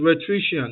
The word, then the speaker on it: rhetorician: That word is rhetorician, not rhetorician. Rhetorician. No. Pronunciation very spelling remains constant. Spelling remains constant. R-H-E-T-O. All right, that O in between dash. R-I-C-I-A-N. The T-O is silent.